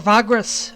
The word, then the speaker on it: Vagrus: welcome back to Vagrus, or Vagrus, as it's pronounced.